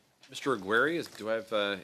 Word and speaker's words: Aguirre: Aguary, is do I have uh your am I pronouncing your name correctly?